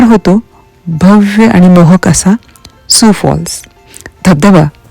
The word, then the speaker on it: Sioux Falls: तर पूर्ण फुलांच्या कुंड्यांनी रस्ता पूर्ण सजवलेला खूपच सुंदर वातावरण होत इथं सु फॉल्स याच spelling S आय ओ यू एक्स असं जरी असलं तरी उच्चार त्याचा सुसाच आहे.